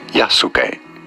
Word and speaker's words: Yasuke: Yasuke.